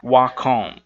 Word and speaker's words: walk: coisa só e aí esse L aqui do Ó ele é mudo Então não é igual não é o áudio mas 5 a simplesmente como se não existisse Esse é lhe dar